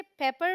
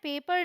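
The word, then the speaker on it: pepper: पेपर भी बोलते हैं इसे पेपर बोलना है पेपर नहीं बोलना है मतलब खींच के नहीं बोलना पेपर जल्दी से ऑलराइट फिर है बैंगन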